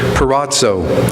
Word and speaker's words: peirazo: probably not pronounce this Greek word correctly, but peirazo, and I'll spell it for you, P-E-I-R-A-Z-O, which means several things.